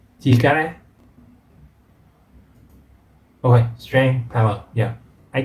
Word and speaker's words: 力: 力 Chikara. Okay, strength, power. Yeah, I think the first time we learned that this pronunciation for strength or power.